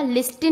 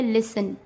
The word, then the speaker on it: listen: जैसे LISTEN, तो इसको क्या पढ़ा जाएगा? लिस्टन नहीं पढ़ेंगे, इसको क्या पढ़ेंगे? लिसन।